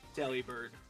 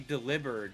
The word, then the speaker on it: Delibird: Delibird. What is Delibird? It's supposed to be a play on words where it's supposed to be delivery bird. But it could also be Deliverd cuz like delivered but bird.